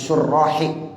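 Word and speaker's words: شرّاح: Kadza zakarhu ba'dus syurrahi, ya bacanya syurrah, jamak daripada syarih.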